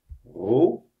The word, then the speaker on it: rho: Rho is m gedeeld door v. Dit is een Griekse letter. Die spreek je uit als rho.